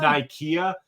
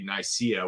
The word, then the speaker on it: Nicaea: like Council of Nicaea, or they call it Nicaea. Is how I hear it pronounced for the lore, but it's actually Nicaea, which is the famous where they put the Bible together.